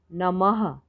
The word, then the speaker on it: नमः: तो इनसे कैसे बनेंगे, इस कैसे उच्चारण होगा इसका, नमः, प्रातः, ह की ध्वनि आएगी इसमें से, जैसे नीचे शब्द हैं,